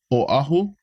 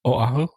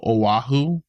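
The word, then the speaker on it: Oʻahu: a W they go aahu aahu but just know that there's a okina between the O and the a so that shows it's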